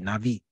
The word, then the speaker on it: Navi: In the Hebrew, they call it Navi. The B is kind of pronounced like a V, Navi.